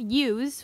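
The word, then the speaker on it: ewe: tour here the moms they're called use which is spelled e e w e and that is just the name for a female sheep I have one colored you she's very pretty and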